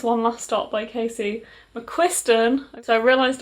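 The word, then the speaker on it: McQuiston: last stop by casey mcquisten so i realized i've been saying their name wrong i'm saying casey mcquinstern for a long time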